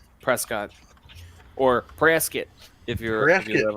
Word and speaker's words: Prescott: And there's like, Yeah, if you don't pronounce it Prescott, dude, they get like angry about it, dude.